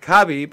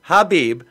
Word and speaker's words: Khabib: disrespect first of all the man's name is pronounced either Habib or Habib Nomura Medoff let's let's respect the champion the